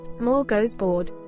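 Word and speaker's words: smörgåsbord: or holiday spread Smorgasbord a smorgasbord pronounced small goes board is a traditional Swedish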